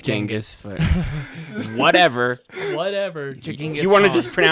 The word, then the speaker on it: Genghis: It's Genghis, but whatever. Genghis You want to Khan. just pronounce it wrong your whole life.